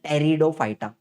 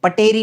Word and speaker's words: Pteridophyta: division ब्रायोफाइटा and division टेरिडोफाइटा ये P silent है पटेरी नहीं बोलने का टेररडोफाइटा ठीक है ये